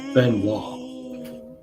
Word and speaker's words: Benoit: It's pronounced Benoit. Benwall. Again, it's a French Canadian thing.